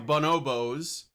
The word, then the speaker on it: bonobo: And she's using the Bonobos cuz that's how you say it. It's bonobo.